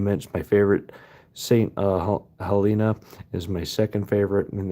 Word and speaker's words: Helena: Helena, Helina, I believe is how you pronounce it.